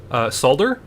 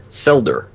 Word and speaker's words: Solder: whole thing yet, but he pronounced it Selder. Oh. Which I'm like, really?